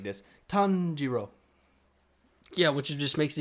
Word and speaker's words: Tanjiro: not i'll uh because how do you say his name tanjiro tanjiro tanjiro so we just take